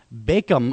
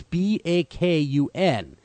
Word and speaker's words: Bacon: And so we're pleased to have Greg Bacon on the show. Again, Greg Bacon. I want to say bacon like the food, but it's Bakun.